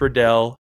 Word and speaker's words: Riddell: It's not Vicus, it's not VCs, it's Visus. Oh man, yeah. Right? It's Visus, it's Riddell, it's Shut, and it's Zenith. That's how they're pronounced.